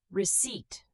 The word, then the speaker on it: receipt: Receipt, the P is silent. We say receipt.